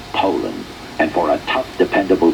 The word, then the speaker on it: Poulan: for over 30 years they've been mispronouncing our names H so we'd like to remind you that our name is Poland and for a tough